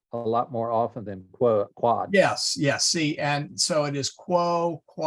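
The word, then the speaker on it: quod: And a minor correction, Alex, this is a short O, so it is quad.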